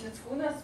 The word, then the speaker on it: Mickūnas: And Algis Mickūnas, or for some in America, I think he's more known as Algis, right? So, but I will keep Lithuanian pronunciation, Algis Mickūnas. There are several reasons to